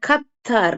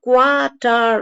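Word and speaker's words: Qatar: இங்கிலீஷ்ல எடுத்தாளப்படுகிற வார்த்தைகள் அதனால இந்த கத்தார் இது வந்து அரபிக் வேர்டு அப்படியே ப்ரொனௌன்ஸ் பண்ணிக்கிறாங்க இப்ப குவாட்டார் அந்த குவா சவுண்ட் இங்க வராது இங்க வந்து வெறும் கத்தார் அப்படிங்கிற சவுண்டு தான் வரும் கற்றார் அதே மாதிரி மாஸ்க்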